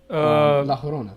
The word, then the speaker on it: La Llorona: creatures that will, like La Llorona? I don't remember how you pronounce a double L in Spanish. I don't remember. La Llorona, yeah, right? Double L is like a Y sound. Llorona?